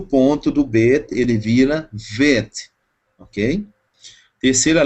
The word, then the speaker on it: Bet: Por que Bet? Som de B, porque tem ponto, ou dagesh, tá?